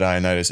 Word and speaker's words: Ioannidis: And I must have just said Ioannidis, and it's been that way ever since.